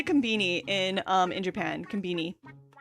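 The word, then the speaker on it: コンビニ: It's more of a B sound than B, but I think that's just because of how their accent is. But that's that's how you say it, even if you're English.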